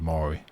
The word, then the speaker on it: Maury: Maori, but not like the indigenous peoples of New Zealand. Murray. Anyway, him. So this is just a little anecdote on Desert Bus last night. This is a composer of musicals who set out to write an adaptation of Phantom of the Opera. The TV host is pronounced Maury. Okay, let's go with Maury.